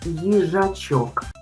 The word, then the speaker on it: їжачок: Послухайте, як я буду вимовляти перший звук у слові їжачок. Їжачок. Ї жачок. Ї. Ми чуємо звук й.